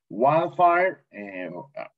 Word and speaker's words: wildfire: Wildfire, incendio forestal, very good. Wildfire, no suena la D, wildfire.